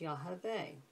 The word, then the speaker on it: Yah: actually have the name Jehovah there but as you can see here it's not pronounced that way it's actually pronounced yah now I thought we